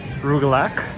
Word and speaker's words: rugelach: me just show it i always mispronounce that sorry everyone rugelach i'm not sure if you're supposed to pronounce the ch this is amazing i